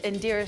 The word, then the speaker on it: Indira: My Tongan last name is Indira. One thing you might not know about me is that how you really pronounce my name is Indira or Indira. It's an Indian name.